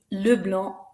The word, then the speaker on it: Leblanc: Girard, Henri, Leblanc, Mathieu, Renoir, et Simon. Notice again, that's right, the last letter isn't pronounced.